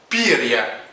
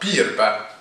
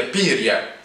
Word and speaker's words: بيريا: يقال أن ياجودا مات في عصر ستالين، وكان ستالين حيا، وجاء من بعده شخص آخر هو بيريا، وفي بعض النطق تنطق بيربا، ولكن الأصح هي بيريا.